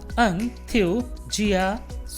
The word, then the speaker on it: enthusiastic: इसका सही प्रोनाउंसिएशन होगा एंथुसियास्टिक। एक कैपिटल में इसलिए लिखा है, इसको बोलते पर ए पर दबाव डालना है, फोकस करना है। एंथुसियास्टिक, एंथुसियास्टिक। So there is no Siya but Jiya, there is no tick but टक।